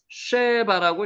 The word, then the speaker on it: 스바: 스바 요것도 쉐바라고 읽혀집니다.